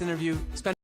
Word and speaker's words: interview: I heard him use a silent T. So let's check the next one and see what kind of pronunciation they use. Good. Kim, love this interview.